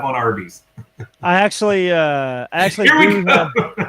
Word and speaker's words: Arby's: And originally they wanted to call it Big Tex, but they ended up choosing Arby's, which was a phonetic pronunciation of the letters R and B, short for Raffle Brothers.